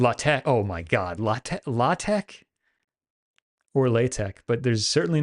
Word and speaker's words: LaTeX: oh my God lat latek or latek but there's certainly no the CH at the end is pronounced like the CH of the bach oh l latto latek